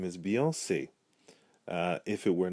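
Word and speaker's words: Beyoncé: remain the same however the e changes it opens the sound of the e from an earth 10 a long a in English the best most popular example I could come up with was the name for Houston's own Beyonce because she places the acute accent over the e it opens it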